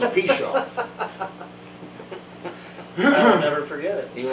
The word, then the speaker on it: Pichoff: And I said, look, the easiest way to remember how to say my name correctly is if you keep screwing it up, you're going to piche me off. So it's Pichoff.